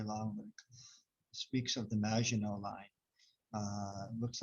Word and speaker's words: Maginot: but speaks of the maginot line uh looks like it's spelled maganat but uh maginot is the french french pronunciation and uh part of